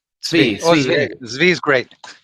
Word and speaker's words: Tzvi: And today I'm joined with Tzvi, is how you usually pronounce that? Tzvi. Tzvi.